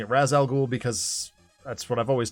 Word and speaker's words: Ra's al Ghul: So tonight I have got Raz Al Ghul, or Ra's al Ghul, however you choose to pronounce it. I believe both are acceptable pronunciations. I will be pronouncing it Raz Al Ghul because that's what I've always done.